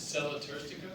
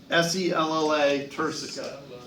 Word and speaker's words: sella turcica: Say, how do you pronounce it? Sella Turstica? Sella turcica.